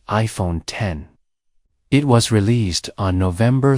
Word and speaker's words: iPhone X: the iPhone 8 announcement Apple unveiled the new iPhone x pronounced as iPhone 10 it was released on